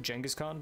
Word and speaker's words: Genghis Khan: successor to janki's khan i pronounce it jenga's Khan because that is kind of like oh jinkies Khan I'm more closely resembling the actual Mongolian translation you in the Anglosphere would probably call it Genghis Khan so Jenga stand